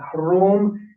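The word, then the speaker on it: Hrōm: You can see that Hrom is the Middle Persian pronunciation of the word Rome, and it actually comes from Greek writing of the name. because this is often transcribed in Latin as RH. It's an aspirated sound, pre.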